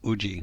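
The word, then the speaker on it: 氏: between it, and just you can pronounce that as uji for simplicity's sake.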